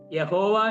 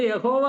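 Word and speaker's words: Yahweh: ആ പദത്തിന്റെ ഭാഗമായി തെറ്റിദ്ധരിച്ചതാണ് യഹോവ എന്നുള്ളതായിരിക്കുന്ന പദം അപ്പോൾ നേരിട്ട് എന്ന് പറഞ്ഞാൽ യഹോവ എന്നുള്ളതായിരിക്കുന്ന ആ പദത്തിന്റെ ഉത്ഭവം എന്ന് പറയുന്നത് അങ്ങനെയാണ്. അതുകൊണ്ട് യഹോവ ഒരു ശരിയായിരിക്കുന്ന ഉച്ചാരണമല്ല. എബ്രായ ക്രിയകളുടെ അടിസ്ഥാനത്തിൽ വ്യാകരണ നിയമം അനുസരിച്ച് യാഹ്വെ എന്ന് പറയുന്നതായിരിക്കും ഈ വൈ എസ് ഡബ്ലുഎച്ച് എന്ന്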